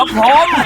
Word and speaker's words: พรหม: ทำ ยัง ไง อ่ะ มัน ไม่ ใช่ พรหม นะ มัน มี หอ หีบ ก่อน ก็ พร พร หง อ่าน ว่า พรหม ก่อน ที่ จะ มา